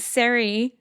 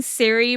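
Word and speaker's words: Serie: We know that Siri, I'm not sure. I've been saying Siri, but I think it's probably Seri. I've most likely been butchering it.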